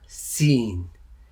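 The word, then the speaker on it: سين: How you pronounce it is seen. And the sound is s, s, s.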